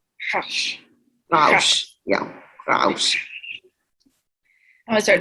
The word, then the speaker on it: Rausch: It's just that the swallowed R. Rausch. What does that mean? It's like the way when you pronounce the R like in your throat instead of on your tongue.